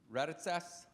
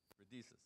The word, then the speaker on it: Raditsas: Raditsas. How close was I? Not very. How do you say it? Radices.